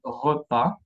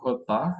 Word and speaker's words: repas: Acá son los pronombres personales, no se pronuncian la S. Palabras como repas, la comida, repas, y no repas.